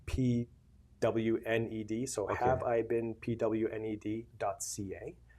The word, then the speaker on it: pwned: It's spelled P WNED.